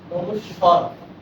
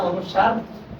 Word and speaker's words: অনুস্বর: হ অনুস্বর, সারা জীবন জানা অনুস্বার, এটা শুনতে হচ্ছে অনুস্বর হবে।